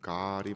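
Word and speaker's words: גאל: 우리나라에서는 주석책들 찾아보면 고엘이라고 표기가 되는데 발음은 가알이 맞습니다.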